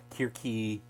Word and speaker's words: Circe: So we don't really know, but scholars tell me, and I believe them, that this is pronounced Kirki.